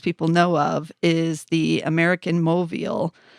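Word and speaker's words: América Móvil: I think most people know of is the American Moville it's did I say that right mobile americ mobile is how they pronounce it it's uh ticker is AMX and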